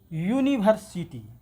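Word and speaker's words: university: क्यों? कि इसका पहला अक्षर का उच्चारण वो आता है जो इससे मेल खाता है, लेकिन इसका पहला अक्षर का उच्चारण ऐसे आता है, यूनिवर्सिटी।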